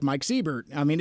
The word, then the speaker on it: Seibert: exactly the same way I do s-e-i-b-e-r-t except he pronounces his name Siebert and uh most people